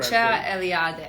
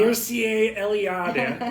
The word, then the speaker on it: Mircea Eliade: And to paraphrase Mircea Eliade, which I can never pronounce correctly. Mircea Eliade. I can because I'm coming from Slavic background. Mircea Eliade, as I like to say.